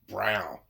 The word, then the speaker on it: Braun: um christopher brought now he pronounced his name brown but it's actually spelled like braun b-r-u-a-n so i said okay christopher brown brawn he actually hit uh